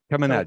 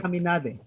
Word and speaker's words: Chaminade: Yeah, it's pronounced as K. Chaminade. So, Caminade.